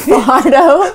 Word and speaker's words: Fajardo: Fajardo. Fajardo.